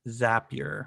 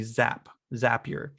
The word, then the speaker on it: Zapier: i fell in love with and i recently learned how to say its name zapier i always called it zapier but it's apparently zap zapier and zapier is my